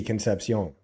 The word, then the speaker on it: Concepcion: It's Casey Concepcion. Yeah, he's got. Am I pronouncing that right this time?